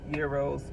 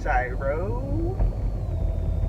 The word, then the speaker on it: gyro: chicken Euro yo their Euros are delicious they are so good and I'm saying Euro because that's how you say it but most people might know as gyro they're so good and